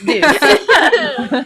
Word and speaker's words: Deuce: Not dirt, Deuce.